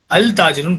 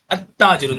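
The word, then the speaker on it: التاجر: இப்போ அல் ஆட் பண்ண, இப்போ நீங்க யோசிக்கணும், இங்க அல் ஆட் பண்ண பிறகு இது நம்ம பொதுவாக எப்படி படிப்போம்னா அல் தாஜிருன் படிக்க மாட்டோம், அத்தாஜிருன் தான் படிப்போம்.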